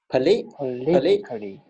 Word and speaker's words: politically: And the pronunciation is on the stress is on the second. So that's why it's Politically. tickly. You see, it's Tickly. tickly. Yeah. So according to this phonetic spelling, is politically. You're right. That's how it's that.